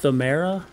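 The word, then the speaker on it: Pthumeru: The, I think it would be pronounced Thumera. Silent P. The Thumera Chalice, ritual chalice found in the Church of the Good Chalice.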